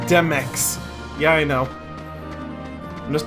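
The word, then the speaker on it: Demyx: It's pronounced Demex.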